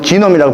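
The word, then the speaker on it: genome: 저게 뭐냐면 여러분, 게놈이 뭐냐면 이제 영어로 지놈이라고 발음하는 거요.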